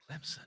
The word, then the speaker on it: Clemson: Are you giving me grief about how I said Clemson? Clemson. Not a Z, right?